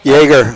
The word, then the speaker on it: Jagger: so the four horse I mispronounced his name according to Doug is Jagger Jagger like Jagger M so Seaside relief and